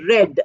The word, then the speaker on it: read: e a d but the past participle is pronounced as red re e d not